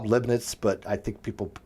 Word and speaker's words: Leibniz: I think it's Leibniz. That's how I've always pronounced it as Leibniz, but who the hell knows? Leibniz. There's no T.